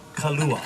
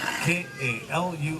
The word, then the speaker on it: kalua: The style of cooking is called kalua, K-A-L-U-A, kalua. No H in there, that would be the liquor, right?